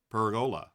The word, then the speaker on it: pergola: I think the stress is on the E, so pergola.